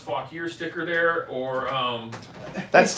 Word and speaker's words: Fauquier: sold the only other thing we've got is pronounced fog here sticker there or um that's tempting that's I